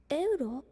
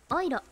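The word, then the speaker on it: Euro: ドライ、エウロ、オイロ。ドイツ語の EU はオイって読むから。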